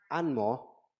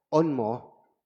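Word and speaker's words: 按摩: Normalmente el masaje en China se este se pronuncia como anmo o onmo.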